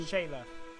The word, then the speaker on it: Shayla: How do you say her name? Shayla.